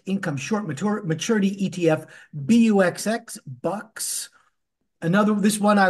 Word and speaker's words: BUXX: Then we have the Strive Enhanced Income Short Maturity ETF, BUXX, Bucks.